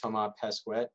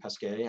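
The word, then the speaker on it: Thomas Pesquet: space agency astronaut uh toma pesquet or pesquet i believe is how it would be pronounced in french we'll make a six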